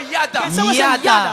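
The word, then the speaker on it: yadah: Quelqu'un dit avec moi yada. Yada veut dire ça s'écrit Y a Dah.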